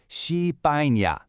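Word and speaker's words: 西班牙: It's called Xipaña.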